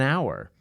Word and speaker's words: hour: vowel sound like an hour the word hour is spelled with an H but the H is not pronounced so it's an hour